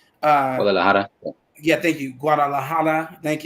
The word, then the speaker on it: Guadalajara: I heard you mention I always mispronounce that name. Guadalajara. Guadalajara.